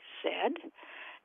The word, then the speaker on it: Z: letter in the alphabet Canadians typically say Zed Americans typically say Z